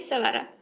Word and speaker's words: Sevara: You can call me Sevara.